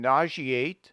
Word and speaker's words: nauseate: In nauseate, censure, issue, etc., the S must be pronounced as SH. In occasion, pleasure, etc., the S must be pronounced as SH.